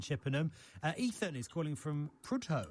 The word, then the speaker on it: Prudhoe: Ethan is calling from Prudhoe. Have I pronounced that right, Ethan? In Northumberland. It's pronounced Prudder. So Prudder. Close enough.